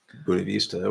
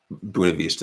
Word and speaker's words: Buena Vista: is also Iowa County buav Vista which I pronounce it not Spanish Le um but we